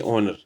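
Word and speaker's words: honour: देखिए ओनर ओनर के लिए एच जो है वो साइलेंट है।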